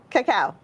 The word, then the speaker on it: cacao: beans chili tomato tony potato vanilla and cacao coco how do you say it cacao but we're doing the squash part of our